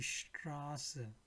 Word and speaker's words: Straße: So wherever we see ST is written, but it sounds like shit, right? So Stuttgart, die Straße.